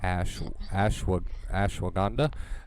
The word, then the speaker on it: ashwagandha: Can you pronounce that word, Kate? I tried Ashwanda? ashwagandha.